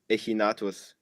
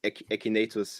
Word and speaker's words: echinatus: think it's Gandana Nemo echinatus, or echinatus if you pronounce it in English.